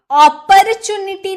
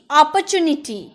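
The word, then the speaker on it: opportunity: अपॉर्चुनिटी नहीं, अपॉर्चुनिटी, अपॉर्चुनिटी, र silent, अपॉर्चुनिटी।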